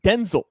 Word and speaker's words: Denzel: It is actually pronounced Denzel.